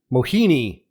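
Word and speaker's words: Mohini: def cat Mahone what how is it how do you say it m moina yeah moini moini yeah that yeah that's what it is uh Mahoney uh see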